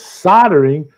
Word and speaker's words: soldering: Martin 1107 down under says soldering, soldering. Don't forget the L, gentlemen.